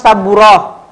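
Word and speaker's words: سبورة: Nah, sekarang yang saburoh. Nah, ini yang saburoh. Saburoh sama juga, ini juga namanya tak marbutoh. Sama juga ini dibacanya apa? Ini dibacanya ha, saburoh, roh, roh, gitu ya teman-teman.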